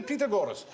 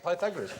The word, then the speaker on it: Pythagoras: go you you ask your mathematics teacher this must do the pagor and we going to do pagor go shut up FR pagor years later I discovered he meant P Pythagoras he used to pronounced